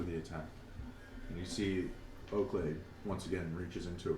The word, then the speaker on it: Oakleigh: Oakley. Point of order. It's Oakleigh. Not like your dog. G-H. Oh. Legally distinct. Well Legally done. distinct. So it's like Lee at the end.